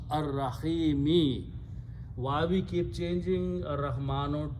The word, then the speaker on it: Ar-Rahimi: After that is the word Ar-Rahimu, but we pronounce Ar-Rahimi.